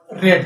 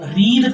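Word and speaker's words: read: आर इ ए D word same रहता है। Spelling same रहती है। लेकिन इसको इंग्लिश में बोलते हैं रेड। रेड। क्या पढ़ेंगे? रेड। रीड नहीं रेड।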